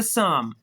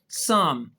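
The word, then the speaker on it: psalm: और दूसरा रूल हमने अभी सीखा है कि पी के साथ एस आ गया तो पी भी साइलेंट। तो फिर क्या लफ्ज है यह? यह लफ्ज है साम। साम और मतलब इसका उससे भी प्यारा है हम।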